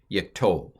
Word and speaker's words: wayyiqtol: Wayyiqtol is the way this is pronounced.